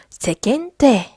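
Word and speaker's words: 世間体: "se" 는 "sekai" 의 "se" 와 같고 , "ken" 은 "ningen" 의 "ken" 과 같습니다 . 오른쪽 ? 여기서 는 " 켄 " 이라 고 발음 하고 , 뒤 에 오는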